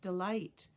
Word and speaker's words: delight: So again, here with delight, that's a prefix, and that's partly what's making the light as the stressed syllable.